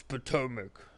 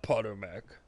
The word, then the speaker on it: Potomac: with the locals yeah it's Potomac not Potter Mac well